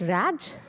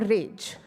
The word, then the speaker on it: Raj: name called r AJ in us people might pronounce that Raj or rage but as I told earlier that in a